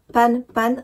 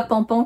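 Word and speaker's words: pan-pan: panne panne c'est que ça se prononce bien panne panne comme une panne moteur comme une panne d'électricité ce genre de choses et pas pendant comme on tire pas au pistolet donc ça c'est l'astuce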